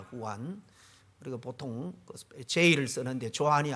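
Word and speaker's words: Juan: 요한의 브러 발음이 장입니다 스페인으로 후입니다 후안 그리고 보통 제를 쓰는데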